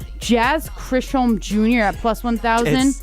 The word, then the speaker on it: Chisholm: Jazz Chisholm Jr. at plus 1,000. It's Jazz Chisholm. It's Jazz Chisholm. Who the hell spells their last name like that? Why would you do CHISM?